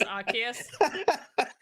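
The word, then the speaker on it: Arceus: I will say controversial take is I actually really liked Legends of Arus. Archus, however you say his name. I always say Arus because it's funny, but I'm pretty sure it's Archus.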